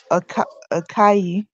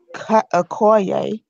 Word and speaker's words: Okoye: hair, and you see in that scene where Akai, I hope I saying her name right, threw off the Okoye, wig. that's how you say it. Okoye, Okoye, Okoye, Okoye, something like that.